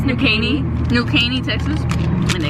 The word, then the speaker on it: New Caney: It's New Caney.